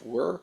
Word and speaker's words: wyr: very uncommon known as it's spelled wyr it's pronounced were he's actually a descendant